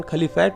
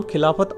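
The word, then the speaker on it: Khilafat: आंदोलन यानि calibrate moment अब क्योंकि अंग्रेजी में लिखे जाने पर इस का हिंदी उच्चारण खली फाइट हो जाता है अरबी मैं खली फाइट को खलीफा लिखते हैं तो कांग्रेस ने बड़ी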